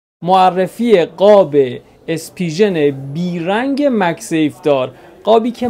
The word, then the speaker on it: Spigen: بدی حالا کاری ندار اسپیژن یا اسپیگن یا اسپیژن اینا رو چ تلفظی اسپیژن دیگه آقا این برند خیلی